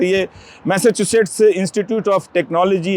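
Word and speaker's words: Massachusetts: institute of technology तो उच्चारण में बहुत दिक्कत होती है कई लोगों की लेकिन आप मैसाचुसेट्स बोल सकते हैं और अगर आप स्पेलिंग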